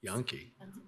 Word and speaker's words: Jahnke: And help me with your last name. Yankee? Yankee? Yes. Yankee.